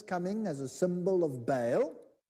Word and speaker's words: Baal: disc its roundness coming as a symbol of bale see bale he just said it right